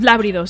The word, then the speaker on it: lábridos: Y hay unos peces que se llaman los lábridos. No, espera. Tiene acento en la A. Los lábridos, ¿sí?